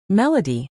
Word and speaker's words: melody: Melody is slash mel.d slash, with the stress on the first syllable.